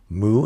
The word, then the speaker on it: 戊: We know that it's pronounced mu, and this one is pretty straightforward. Mu, mu. If you're a Zen student, you know how to say mu.